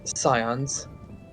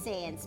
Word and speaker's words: Sans: I really need to do I need to actually watch a video on the species analysis of scions. Sans. It's kind of pronounced as Sans, but you're okay.